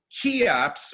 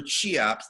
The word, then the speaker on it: Cheops: And what the character in the story does is the character reanimates the pharaoh Cheops, or Cheops, depending on how you want to pronounce his name, from one of the pyramids in Egypt.